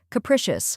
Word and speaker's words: capricious: The correct pronunciation is capricious. Let's break it down. First, we have cu, which sounds like the CA in cat. Next is prish, which rhymes with wish and is stressed.